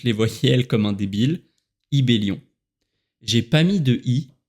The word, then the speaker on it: Ybelion: J'ai mis un Y, Ibellion en prononciation française. Petit fun fact auquel j'avais pas pensé, c'est évidemment que pour les Anglais, le Y se prononce Y. Donc on m'a pas mal appelé Y-Billion au début.